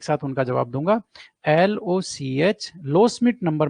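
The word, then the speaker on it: Loschmidt: हैं, उसको बोलते हैं लो स्मिथ नंबर। ठीक है ना, डी साइलेंट है, ये दोनों डी है ना, ये दोनों डी ही साइलेंट है, इसलिए इसको बोलते हैं लो स्मिथ नंबर।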